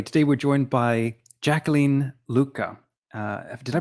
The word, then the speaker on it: Lucca: on welcome everybody today we're joined by jacqueline lucca uh did i pronounce that correctly jacqueline luca luca okay she is an author and adventurer